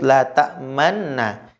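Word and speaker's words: لَا تَأْمَنَّا: Maka cara bacanya ada 3 cara. Ada 3 syarat cara bacanya. Yang pertama, harus la ta'man ditunjukkan kalau itu ada nun sukun. Maka bacanya la ta'man, kemudian menunjukkan ishmamnya. La ta'man mencucu, la ta'man. Nah, mencucu kemudian kembali ke yang ketiga, kembali kepada nunnya yang bertasydid.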